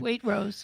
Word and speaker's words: Waitrose: Am I pronouncing that right? Waitrose, yeah.